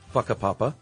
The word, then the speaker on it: Whakapapa: you were talking talking about, are almost always pronounced as an F sound. So Whakapapa sounds more like Fuckapapa.